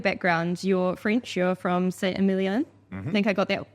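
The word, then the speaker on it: Saint-Émilion: You're from Saint-Emilion. I think I got that pronunciation right.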